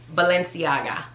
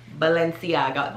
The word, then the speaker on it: Balenciaga: gang cardi b already told everyone how to pronounce this one is valenciaga balenciaga balenciaga so like this one's actually pretty easy um